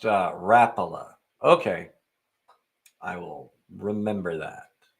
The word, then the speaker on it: Rapala: It's pronounced Rapala.